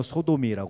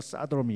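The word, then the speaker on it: sodomy: 단어가 뭐 영국 발음으로 소도미라고 그러고 영어 미국식 발음은 사도미 이러잖아요.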